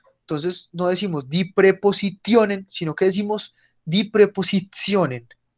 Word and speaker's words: Präpositionen: Die Präpositionen. Die Präpositionen. Miren cómo suena la T antes de vocales. Cuando después de la T hay más de una vocal, suena como una Z. Entonces no decimos die Präpositionen, sino que decimos die Präpositionen.